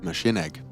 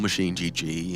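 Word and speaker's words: MachineGG: either machine or myself that's machine egg if you're looking for my handle machine egg machine egg okay nor machine GG if you want to say it properly did you know it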